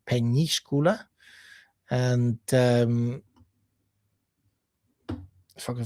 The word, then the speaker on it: Peñíscola: Uh so, it's spelled with an ñ, um Peñíscola.